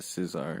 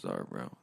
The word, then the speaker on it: czar: It's not a Caesar, it's just czar. Some people say different. No, it's pronounced czar, bro.